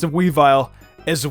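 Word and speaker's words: Weavile: look at that witch cap weevil yes I pronounced a we vile as a weevil I watched way too majiggy oh growing up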